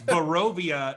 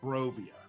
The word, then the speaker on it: Barovia: It's Barovia, not Brovia.